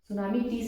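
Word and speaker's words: tsunami: इसे के अंदर आएगा सुनामी टी से स्पेलिंग शुरू होता है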